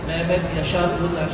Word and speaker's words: Mehmet Yaşar Ulutaş: my name is Mehmet Yaşar Ulutaş. I'm pronouncing it the way my mother would pronounce.